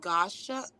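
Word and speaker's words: gua sha: think I'm pronouncing it wrong I think it's pronounced Gosha um g-u-a-s-h-a I know how to spell it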